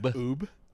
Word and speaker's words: Ub: U B Okay, so you're saying you're saying his name is Oob. Oob. But you spelled it earlier and said U B.